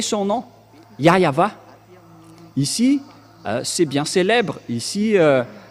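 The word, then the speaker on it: Yahweh: Il s'appelle Yahva, le grand-père Moshe a prononcé son nom, Yahva. Ici, c'est bien célèbre. Ici, chez les orientaux, ils prononcent vraiment le W par un V ou par un B.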